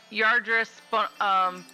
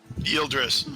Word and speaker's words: Yildris: bonus action to give Yardris Bardic Inspiration. Okay. How do you pronounce that? Yildris. Yildris, thank you.